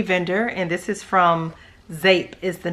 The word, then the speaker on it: Zeep: new to me vendor and this is from zape is the name of the vendor but it's spelled z p I've been wanting to say Z but I know it's pronounced zape and I believe the vendor's name is Heather